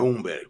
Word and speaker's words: Humberg: Como é que pronuncia, Fábio? É Umberg.